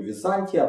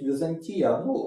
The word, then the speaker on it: Византия: есть вопросы по удалению Я говорю Византия потому что оно происходит это город Ну и слово это абсолютно искусственно поэтому никакого правильного ударения там быть не может его это слово никто в те времена не знал знали город поэтому удаление на букву кто-то считает что правильно говорить Византия ради Бога Ваше право